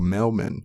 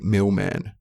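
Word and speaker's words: Mel-Man: a shout out to mailman which is pronounced like mailman and mailman is a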